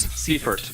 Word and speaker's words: Seifert: Pronounce his name for me, please, Todd. Brandon Seifert. Seifert.